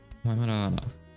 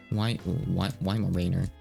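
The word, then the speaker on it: Weimaraner: Waimanara. So she's pronouncing the name wrong, but I don't even know what it is.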